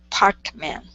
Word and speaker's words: Parkman: So whenever you have man at the end of of a word like that, it's always going to be pronounced m. So it's more of a schwa sound or mman. Parkman. Parkman. Yeah. So instead of meman pronouncing that a change it to mman parkman.